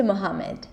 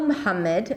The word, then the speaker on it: Mohammad: want to think about where the primary stress is. In this case, it's ha, right? Now, in terms of pronunciation, there is no sound, so we'll turn it into the closest sound in American English, which is an H sound.